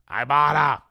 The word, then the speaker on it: Ibotta: other sponsor today is iata IB o TTA app pronounced I ibata the New Year's for